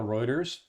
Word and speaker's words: Reuters: So where I go when I'm at work and I'm reading the news, I go to Reuters for one. Reuters? How do you spell that?